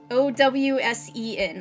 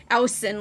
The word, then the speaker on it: Owsen: a guy named Dan Owsen. Owsen, I think it is. And I guess that's how you pronounce it, because that's how Heil kept pronouncing it. Owsen, like, ow! Like a clap chop, like, ow!